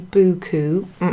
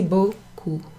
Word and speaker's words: beaucoup: together that's pronounced Oh Oh merci beaucoup okay not messy buku no merci beaucoup okay and and oh